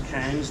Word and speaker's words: Cairns: There's Cairns there. I'm pronouncing it properly.